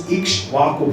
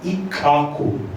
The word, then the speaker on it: Ikshvaku: I was thinking the pronunciation is Ikshvaku because it is spelled as IKSVAKU. But 2 days ago, I was listening to the Prabhupada's, and Prabhupada pronounced it as Ikkaku.